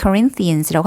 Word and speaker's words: Corinthians: 우리 고린도전서 할 때 First Corinthians라고 하죠. 자, 여기서 강세받는 음절이 어디냐면은 린의 강세를 받죠.